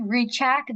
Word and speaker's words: Rychek: Hi, my name is Rychek. The H is silent, and it's okay. Nobody can ever say it.